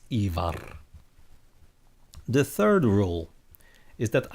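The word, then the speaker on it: Ívar: The second one is that you have the rolling R. So it's not Ragnar, it's Ragnar. And it's not Ivar, but Ivar when you're watching Vikings.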